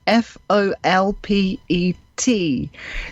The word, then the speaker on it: Folpet: It's spelled as you say it, Folpet.